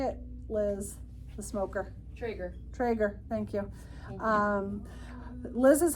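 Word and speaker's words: Traeger: Trager.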